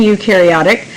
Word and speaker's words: eukaryotic: you of prokaryotic and eukaryotic pro rhymes with no and so when we think prokaryotic we think no nucleus and you rhymes with do eukaryotic do have a nucleus all right and